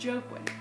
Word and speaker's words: Joaquin: Yes, it's Joaquin.